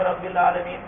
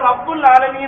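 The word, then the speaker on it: رَبِّ الْعَالَمِينَ: അൽഹംദുലില്ലാഹ് എന്ന് പറഞ്ഞാൽ തെറ്റാണ് റബ്ബിൽ ആലമീൻ ഒരാൾ റബ്ബുൽ ആലമീൻ എന്ന് ഓതി അൽഹംദുലില്ലാഹി റബ്ബിൽ ആലമീൻ റബ്ബിൽ ആലമീൻ എന്നല്ലേ സാധാരണ ഒക്കെ പറയുന്നത് അതുകൊണ്ട് ഫാത്തിഹ ഓതിയപ്പോഴും അൽഹംദുലില്ലാഹി റബ്ബിൽ ആലമീൻ എന്ന് ഓതി നിസ്കാരം ശരിയാവില്ല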